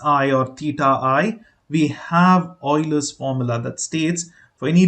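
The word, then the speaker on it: Euler: by 2 now I hope you know the Oilers formula uh it's written as u e l r it's pronounced Oiler I will just uh you know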